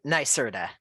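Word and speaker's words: NYSERDA: bit about your experience at and is it NY Serta or how how do you pronounce that I know it's Nera n nerta nerta yes okay and so can you can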